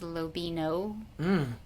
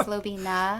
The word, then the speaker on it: Lobina: Sometimes people pronounce my last name as Lobino. Which always reminds me of that Beano product for gas. Don't like that. I don't like that. It's Lobina. Yeah. It's got an A on the end.